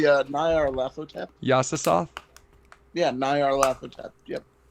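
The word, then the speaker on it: Nyarlathotep: I think you're trying to say Nyar Lathotep.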